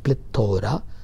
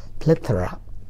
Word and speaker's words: plethora: Okay, that's what called plethora, but the pronunciation is not plethora, its right pronunciation is plethora.